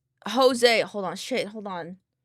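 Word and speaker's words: José: That's fair because some people don't understand that the J is pronounced as an H.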